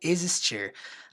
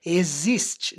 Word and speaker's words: exist: verbo aqui, ó, o existir. A pronúncia dele é assim, tá? Exist. Exist. Então não tem o som do X do português. Exist. Não é existe.